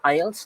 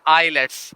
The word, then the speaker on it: IELTS: is something else uh it is IELTS and that's the right pronunciation and like it stands